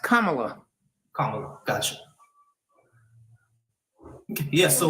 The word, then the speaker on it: Kamala: for her um but like I lean it's pronounced Kamala kamla gotcha yeah so like um I I